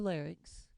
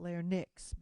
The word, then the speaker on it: larynx: your larynx here's your larynx that's pronounced larynx not lair NYX by the way larynx